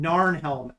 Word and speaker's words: Narnhelm: Last name Narnhelm. NARNHELM. Narnhelm. Like Narnia.